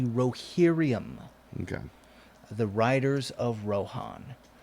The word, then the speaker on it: Rohirrim: The way it was spelled in the books, my understanding is that it is the Rohirrim, Okay.